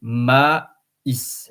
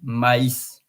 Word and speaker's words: maïs: So on top of the I, you see the trema. To say maïs, maïs. Because without the trema, M-A-I-S would be another word, by the way, M-A-I-S, which is me.